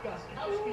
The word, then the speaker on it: Gostkowski: First kick, new kicker for the Titans, Steven Gutowski. That's how you pronounce it. Titans kicking game was a massive season ago. Here's Gostkowski on the way.